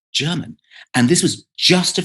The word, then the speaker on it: Gherman: Yuri Gagarin, Gherman or German Titov. It's actually, we spell it Gherman, but it's still German.